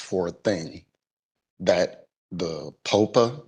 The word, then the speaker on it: POPA: a thing that the POPA, is that the correct pronunciation? Yes, Popa, right?